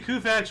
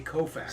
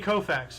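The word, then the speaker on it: Koufax: the USSR 1966 Los Angeles Dodgers pitcher Sandy kfax won his 27th game of the season 6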